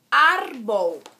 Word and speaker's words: árbol: Por exemplo, a palavra árbol, que tem 2 sílabas e a mais forte é o ar.